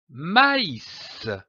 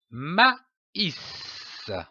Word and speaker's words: maïs: cet accent très m'as indique que la voyelle qui précède doit être prononcée séparément comme par exemple du maïs maïs je lis un mot